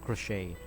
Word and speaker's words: crochet: or et lang yan silent t siya crochet hindi siya crochet kasi iba sinasabi crochet eh or crochet It's crochet silent tea parang yyung anou